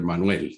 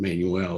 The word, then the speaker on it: Manuel: I thought it was great that you pronounced my name in Spanish. So I was happy after Manuel, rather than Manuel or whatever.